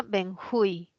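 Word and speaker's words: benjuí: tipo de bálsamo y se pronuncia benjui es aguda termina en vocal se tilda cuál tildamos vamos a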